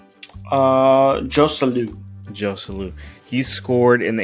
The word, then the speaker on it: Joselu: how do you pronounce his name? Jose Lu? Joselu.